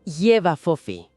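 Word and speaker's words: J'ba Fofi: Bien, empecemos por el retrato de esta criatura, el nombre Jefa Fofi, que se pronuncia algo como Yeva Fofi.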